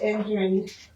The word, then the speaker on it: NDRIN: It's engine is how you say it, but it's the North Dakota Recorders Information Network.